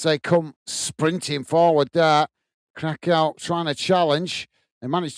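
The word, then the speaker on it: Curaçao: I keep calling it Curacao because it's how it reads, or Curacao, I believe is how it's pronounced.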